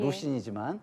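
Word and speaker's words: 魯迅: 그리고 제가 노신의 그 소설을 인용한 것도 뭐 중국 발음으로는 루신이지만 그 루신의 그 고향이라는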